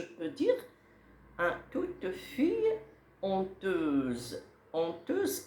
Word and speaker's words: honteuse: honteuse كنطق H ولكن كنصرتها.